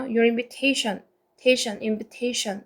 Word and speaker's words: invitation: your invitation. 태의 강세 있고요. your invitation 이라고 있습니다.